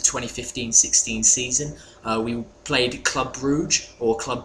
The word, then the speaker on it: Brugge: campaign of the 2015-16 season we played club brugge or club bruja depending on though if you ask louie van hulle to pronounce it and it was it was a